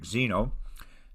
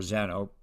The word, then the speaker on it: Zeno: from the ancient greek xeno uh or zano depending how you want to pronounce him so let's first see